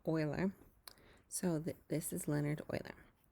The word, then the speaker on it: Euler: name was Leonard Euler now it looks like Euler that's how I was pronouncing it for the longest time and then I realized